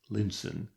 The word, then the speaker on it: Lion's Town: and so on to Lion's Town pronounced Linson where they mounted the stage coach which was to take them across the Moore to Camelot.